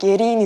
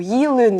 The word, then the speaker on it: Yerin: But usually, my name is spelled YERIN. But my dad spelled it YELIN. So everyone always asked how to pronounce it. We had an assembly at school every Monday, But my name was called out really often. But they always called me YEELIN, Or YELLIN, it kept changing.